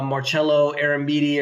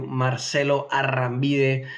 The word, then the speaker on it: Marcelo Arambide: And if you're listening on the podcast, just look up Marcelo Arambide, or if you pronounce it in Spanish like I do, Marcelo Arambide, there on YouTube, and